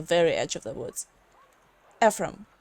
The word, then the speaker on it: Ephraim: Ephraim, right? Did I pronounce that right?